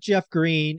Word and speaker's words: Greene: when I think about Jeff Green and what he shared on CNBC people can go look it up by the way green has an e on the end it is silent so if you look